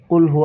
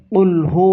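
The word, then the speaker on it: قل: হবে কুলহু আল্লাহু আহাদ আবার অনেকেই বলে কুলহু আল্লাহ কুল নো কুল পড়া যাবে না কুল কফ লাম পেশ কুল এটা বড় কফ কুলহু আল্লাহু আহাদ দেখেন কুল মানে বলা আর কুল অর্থ আরেকটা তাহলে আপনি যদি কুল পড়েন এই যে কুল কুল যদি পড়েন তাহলে অর্থ সরাসরি পরিবর্তন হয়ে যায় এজন্য সাবধান কোরআন তেলাওয়াত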